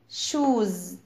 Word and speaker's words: shoes: shoes كلنا عارفينها، shoes هنا الاس has Z sound يعني نفس صوت حرف الزي.